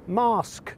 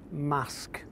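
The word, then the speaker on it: Marske: the sea tourists from outside the region often pronounce it as mask by the sea but to the locals it's mask it's widely thought that prehistoric settlements were present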